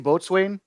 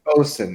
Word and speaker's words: boatswain: Was it LC Boatswain? No, it was like It's bosun. It's pronounced bosun.